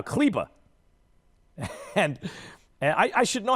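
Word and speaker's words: Kleber: all these german names maxi clebber is somehow cleba and i i should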